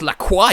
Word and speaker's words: La Croix: It's pronounced La Croix, you fucking Americans.